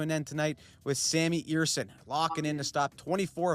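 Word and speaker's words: Ersson: All of it comes to an end tonight with Sammy Eerson locking in to stop 24 of 25 shots. I had pronounced his name as Ersen in the video reaction spot all year long, but that last stretch may have buried them.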